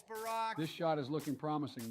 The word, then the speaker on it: Barack: How many times are you going to incorrectly pronounce his name, damn it? It's not a big deal. Balrock, Barak, Bayrock, it's Barack.